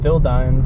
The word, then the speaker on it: Dildine: Turn left onto Dilden Road. Dildine Road is how he pronounced it. Dill Dine.